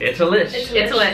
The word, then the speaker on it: Itallish: Did I pronounce it right? Itallish.